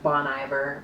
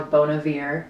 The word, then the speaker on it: Bon Iver: isakov and we have Bon Iver or Bon Air depending on how you say it but I really loved